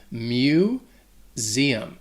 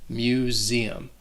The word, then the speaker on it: museum: tricky for two reasons the first is that first syllable that mu has like an m sound combined with like saying the word you mu zeum that s is also going to sound like a z museum let's go to